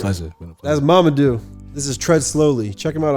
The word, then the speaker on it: Mamadou: How do you pronounce it? Mamadou.